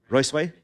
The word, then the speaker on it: Ruisui: I don't know if I'm pronouncing it right, but Ruisui, is that how we pronounce the word? Ruisui, I got it right. All right. Huh? Fourth tone.